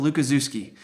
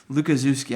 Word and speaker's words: Lukaszewski: is phonetically for you it's lukaszewski lukaszewski i tell people zoo like where the animals are or my kids and so that's how you pronounce my last name in case you wanted to say it to somebody else there's a picture of